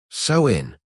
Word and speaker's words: Samhain: Anthropologists call the rite Samhain, pronounced so-in, a 72-hour window when pastoral tribes shut down the grazing season and reboot the cosmic ledger.